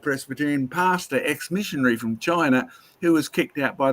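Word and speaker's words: Qin: back to their ancestral characters who came to China biblically of course they came after Babel and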